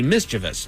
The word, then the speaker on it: mischievous: So, for some of us, it's pronounced mischievous. Uh, for others, you're supposed to say mischievous.